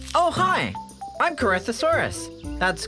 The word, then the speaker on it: Corythosaurus: I'm Corythosaurus. That's Cor, Rith, Dinosaurus.